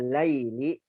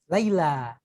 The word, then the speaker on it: Laila: As-salisu sa'atuki jamilatun ya Laili. Laila. Bacanya Laila, ya. Itu bukan huruf iya ya Ustaz? Bukan, itu huruf alif. Ya, Naam. alif namanya alif maksurah itu ya.